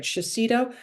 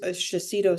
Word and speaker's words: Shiseido: What I've always done, or for a while now, is I think I'm pronouncing it right, Shiseido. I use Shiseido serums, and I'll put a little drop of